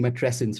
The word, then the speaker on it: matrescence: um first of all am I pronouncing met tressence right is it the same as adolesence okay awesome um Where